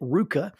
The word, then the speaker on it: RVCA: Now, when you pronounce it knowing that, you would pronounce it RVCA and it sounds somewhat like the Greek word for clothes or clothing.